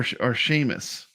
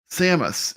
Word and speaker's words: Samus: Is it Samus or Seamus? Samus.